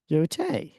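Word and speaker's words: Yōtei: How is that pronounced? Yotei.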